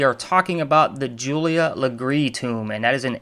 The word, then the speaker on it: Legare: what I noticed was that it is not pronounced leer as it looks on the title of the podcast and on my blog but it is actually pronounced lree according to um an article I found uh